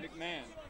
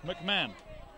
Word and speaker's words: McMahon: Aaron MC McMahon Mahan McMahon McMahon they don't pronounce the h Tom mcmah you live